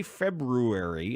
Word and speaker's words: February: say it I won't I do say February instead of February February February there's an R February February right you